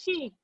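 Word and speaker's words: Xi: In Chinese is pronounced as she.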